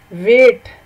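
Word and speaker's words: weight: मसलन वेट। अब आप देखें कि वेट में जी और एच साइलेंट है, इसी तरह नो में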